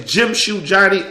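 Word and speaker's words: Jimshoejohnny: saying my name is Jim shoe Johnny all one word Jim like jimm class shoe like the shoe on your feet Johnny as in the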